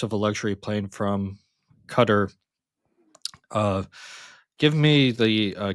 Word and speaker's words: Qatar: So, apparently it's cutter. I have been saying Qatar.